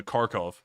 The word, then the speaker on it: Kharkiv: it says welcome to kharkiv and you know if you say it in the russian pronunciation it's welcome to karkov which is almost the same thing it was very cool